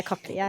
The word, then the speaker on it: cochlear: Yeah, cochlear.